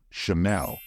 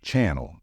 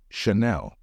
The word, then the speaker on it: Chanel: it and know that since it's a French word it should be pronounced in a French way and the right way to say it is chamelle don't say Channel it is Chanel a backpack and a